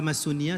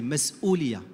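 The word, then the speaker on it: مسؤولية: C'est pas Massonia, c'est Mas'oulia. Avec 2 prononcé.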